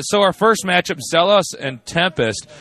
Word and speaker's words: XellOs: our first match up zos and Tempest Zeos or a lot of the Koreans pronounce it jalos um is really um